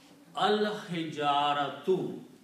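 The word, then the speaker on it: الحجارة: And when you put al, then these two dhammas are pronounced as one. So the word will be now al hijaratu, the stones.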